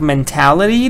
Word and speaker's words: mentality: with that kind of mentality there's no way you can solve this problem with that mentality so mentality is the noun form and stress is on tap mentality then we have mental